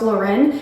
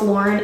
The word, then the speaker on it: Lauren: It's not Ralph Lauren. It's Ralph Lauren and it's been verified by Mr. Ralph Lauren himself who's from the Bronx.